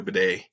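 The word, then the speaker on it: Badie: But it was nice to see Denver finally get something going in the run game with Tyler Bidet, which is how I guess he wants his name pronounced, weirdly enough.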